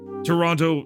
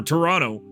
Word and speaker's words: Toronto: to fall you shiver Toronto or Toronto I I forget you don't you don't pronounce the second Toronto feels like it's